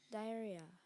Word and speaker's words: diarrhea: Am I pronouncing it correctly? You are. Diarrhea.